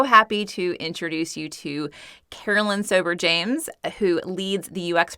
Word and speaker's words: Caroline: So Caroline, it's pronounced Caroline, spelled Caroline.